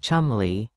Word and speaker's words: Cholmondeley: Sarah Rose Hanbury, or Sarah Rose Cholmondeley, was the wife of David Cholmondeley, pronounced Cholmondeley, 7th Marquess of Cholmondeley.